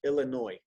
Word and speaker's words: Illinois: 20 i moved to illinois oh okay yeah you know in in we don't pronounce the s on that state in english illinois and so you lived